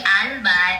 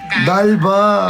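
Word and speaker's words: d'Alba: maganda pa yung quality it's not the alb it's dalba alam ko maraming nagkakamali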